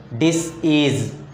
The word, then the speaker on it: disease: For example, the word disease. Here the second syllable takes the stress.